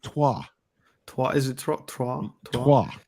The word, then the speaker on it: Troyes: And Biancone from Troy is also very, very tidy.